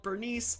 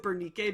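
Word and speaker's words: Berenice: but it is literally Bernice. That's how it's spelled. It's not with a K, but I always pronounce it Bernique because I hate saying Bernice.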